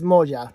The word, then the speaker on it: Moja: Oh, let's find out how to pronounce this. Hold on. All right. Yeah. So I said it right. It's Moja.